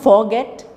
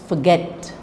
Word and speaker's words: forget: canteen contain evade forget it's not forget it's forget forget forgive idea so say